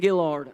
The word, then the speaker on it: Guillory: Kayden Guillory, uh yeah. There it is. I say it wrong every time. It's Kayden Guillory, not Guillory. It's Guillory.